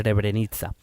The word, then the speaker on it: Srebrenica: Es lo que se escribe en los periódicos como Srebrenica, pero a mí me ha dicho Google que se dice Srebrenica. Pues o algo parecido.